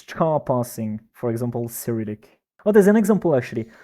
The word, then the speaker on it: Cyrillic: So that, and Pierre says it's pronounced Cyrillic, which really, it's the first time I've ever heard it pronounced like that.